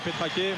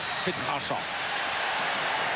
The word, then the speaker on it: Petrache: Alors vous la prononcez à la roumaine, Petrache, moi la biterroise, Petrache.